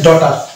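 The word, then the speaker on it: daughter: আমরা শব্দটা উচ্চারণ করবো জি কে বাদ দিয়ে উচ্চারণ করবো তাহলে শব্দটা উচ্চারণ হয়ে যাবে তো এজন্য এটা হচ্ছে ডটার এই যে ডটার মনে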